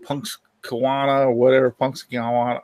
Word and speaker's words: Punxsutawney: Punxsutawney or whatever. Punxsutawney. How do you say that? Punxsutawney.